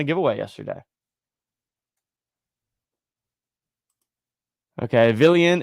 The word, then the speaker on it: Villian: Okay, Villian is pronounced like a million.